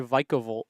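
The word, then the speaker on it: Vikavolt: Chip and Puka would say Vikica Vololt. It's the correct way to say it.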